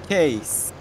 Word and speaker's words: Case: Ne diye okunuyor? Case.